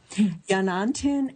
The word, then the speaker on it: Yanantin: And the book we're going to discuss today, Hilary, you will correct me if I mispronounce it, Yanantin and Masintin in the Andean World, Complementary Dualism in Modern Peru.